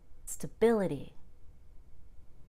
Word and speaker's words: stability: for sill facility stability if this were an adjective it would be stable and we would spend a long time stretching out that a but when it's a noun we reduce that a to stability next we have a